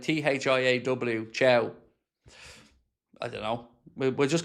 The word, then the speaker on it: Thiaw: Tia's pronounced Chow, by the way.